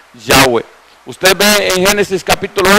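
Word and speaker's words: Yahweh: nos han enseñado que la pronunciación correcta es yagüe ustedes ven en ese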